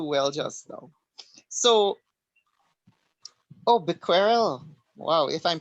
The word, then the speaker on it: Becquerel: I think it's Becquerel. I You think it's can Google it Becquerel. for the Becquerel, pronunciation. It's on Google. Google pronunciation. I Yes. think It it's sounds like Becquerel. Quirrell in Harry Potter.